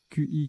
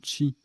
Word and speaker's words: qi: procédé de photogravure chi qi qui se prononce également çi énergie vitale dans les